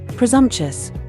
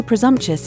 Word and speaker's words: presumptuous: It's usually pronounced with all four syllables, presumptuous, although presumptious is acceptable as well.